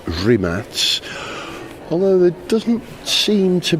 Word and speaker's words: Rimac: It's not Rimac, it's Rimats.